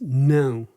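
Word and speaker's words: não: from Greeno so yes in Portuguese is s um and no is no and and it's this specific sound oh no and it's but it's spelled n a o so you generally get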